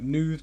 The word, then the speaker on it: Nud: On the right side, at the top, we've got Isabelle, Allan, and Nud there. That's a Welsh name. I think it's pronounced more like nude, but that's fine.